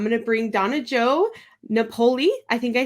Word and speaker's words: Napoli: And I'm going to bring Donna Jo Napoli, I think I said it right, in now. Did I say it right? Napoli.